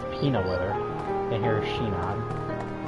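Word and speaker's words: Sinon: And here's Shinon. I might be mispronouncing it some, but I'm pretty sure they pronounce her name with a bit of an S or an SH sound to it.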